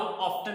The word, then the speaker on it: often: अच्छा, इसको हाउ ऑफन भी पढ़ते हैं और हाउ ऑफ्टन भी पढ़ते हैं। अब एक अमेरिकन इंग्लिश का वर्ड है, एक मतलब प्रोनाउंसिएशन है, और एक जो है वो ब्रिटिश इंग्लिश की प्रोनाउंसिएशन है। सो हाउ ऑफन भी पढ़ सकते हैं और हाउ ऑफ्टन भी पढ़ सकते हैं।